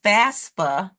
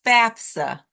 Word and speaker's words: FAFSA: it FAFSA is an acronym which is often mispronounced as FASA but it is Fafa and it stands for the free application for